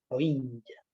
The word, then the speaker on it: Rohingya: Y también con un pueblo minoritario, un grupo étnico de Birmania, que tiene un nombre rarísimo y que se llama así, Rohingya, con pronunciación africana, Rohingya.